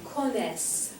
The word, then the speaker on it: connaissent: Okay, so here we pronounce the S, or S's I should say, but we don't pronounce the ENT just like we normally don't with other verb forms.